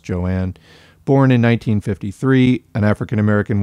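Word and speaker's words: Joan Little: so joanne little uh her name is written j-o-a-n so looks like joan but is actually pronounced joanne born in 1953 an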